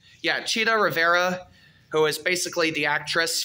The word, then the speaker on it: Chita Rivera: Yeah, did I pronounce it right? Yeah, Chita Rivera. Yeah, Chita Rivera, who is basically the actress from the film called Sweet Chariot.